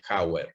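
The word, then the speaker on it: Jawer: J-A-W-E-R, Jauer, se escribe el apellido.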